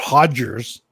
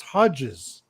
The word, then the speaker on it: Hodges: It's not Hodgers. Well, what is it? It's Hodges. Hodges. Oh, you put an R in there? Yeah. Yeah. Not Paul Hodgers.